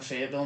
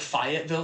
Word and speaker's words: Fayetteville: Like to the point where we were like, we call it like Fayetteville, like Lafayette. Gotcha. We're like Fayette, like what, is this like Marquis de Lafayette?